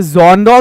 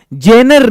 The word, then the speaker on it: genre: अब ये जॉनरा क्या है, ये बहुत सारे बंदे ये भी नहीं जानेंगे, इसलिए मैं बता देता हूं। GENRE, इसकी उच्चारण को सुनोगे, जेनर नहीं कहते, जॉनरा कहते हैं।